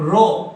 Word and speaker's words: rho: હવે ધ્યાનથી સમજ, આ P જેવું દેખાય છે, P नहीं है बेटा, उसको प्रोनाउंस करते हैं RHO, रो, है ना, रो।